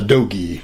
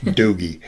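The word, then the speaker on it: dogie: A doggy. A doggy. Spell that.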